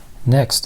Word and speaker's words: NXT: a great value proposition next the Gerber suspension NXT or Gerber suspension next depending on how you want to pronounce it so this is the